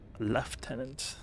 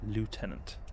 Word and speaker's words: lieutenant: take out his lieutenant left tenant actually i keep mixing it up because british english is lieutenant but since you're always watching american movies american films everywhere everyone in america is pronounced lieutenant that makes up a lot i should be saying left in it remove large collidable